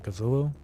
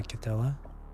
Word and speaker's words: Cthulhu: I've learned that when it came to like pronouncing names like Cthulhu or Cthulhu, it's actually pronounced as if there's no like th sound. That's why I pronounce Cthulhu as Cthulhu, not Cthulhu.